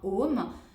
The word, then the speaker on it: Aum: Pour être plus précise, ça s'écrit Aum. Donc A représente le début, la vie, la naissance plutôt. Le U qui se prononce O, c'est tout ce qui